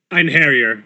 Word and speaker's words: Einherjar: So I'm going to add Angela and the Einherjar, which I assume Shawnee will tell me if I'm pronouncing incorrectly. Einherjar.